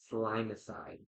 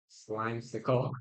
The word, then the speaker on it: Slimesicle: That's not a D. Slimesicle.